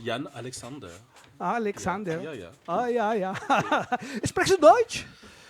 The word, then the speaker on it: Jann Halexander: me mandó tu nombre, lo escribió con H, Alexander. Está bien así. ¿Y cómo lo pronuncian? Porque cuando dije, ay, bueno, este tío tiene también una cosa así muy nórdica, Alexander. Y entonces, pues te pregunto, ¿cómo lo pronuncias? Es Jan Alexander.